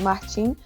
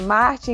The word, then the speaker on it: Martim: A gente geralmente chama pela pronúncia brasileira, que é de Martim, mas o professor André é super internacional, chama de Martin e tá tudo certo.